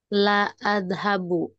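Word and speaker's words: لا أذهب: La adhabu. Aku tidak pergi. Oh, ini Oh, itu menyangkal kalimatnya jadi ladhabu. negatif kalimatnya. Apa Om? Itu dibacanya ladhabu ya Ustadz. Panjang.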